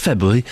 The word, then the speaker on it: February: Saturday the 16th of February at 3:00. There is an R there that you should pronounce. It's February. The R is there. Why not say it?